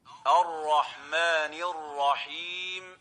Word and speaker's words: الرحمن الرحيم: And the right way of pronouncing it is الرحمن الرحيم.